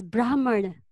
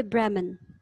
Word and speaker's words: Brahman: leader in India we we actually pronounce the H as well it is Brahmin and it is Brahmin but in English we say Bremen yes Rama what's happening